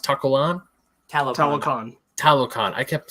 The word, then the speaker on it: Talokan: But thankfully, once we got to, is it pronounced Talokan? Talokan.